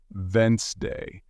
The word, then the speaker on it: Wednesday: of words for example you might see the word Wednesday and think it's pronounced exactly as it's spelled but listening teaches you it's actually pronounced vent day this helps you speak